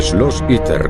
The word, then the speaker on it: Schloss Itter: El Schloss Itter, como se pronuncia en alemán, se sitúa en medio de las montañas del Tirol de Austria.